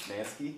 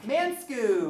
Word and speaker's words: Manske: Am I saying your last name right? Manske. Manske? Okay, good. I just now realized as I'm saying it, I'm all Mansku, or I don't want to say it wrong.